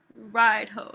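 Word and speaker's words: Raidho: journey is the destination ride hoe that's how you say it literally ride or wagon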